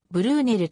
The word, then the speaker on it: Brunel: あるまた生のブルネルをブルーねと表記することがあるが英語読みではブルーネルとなる 2002 年 bbc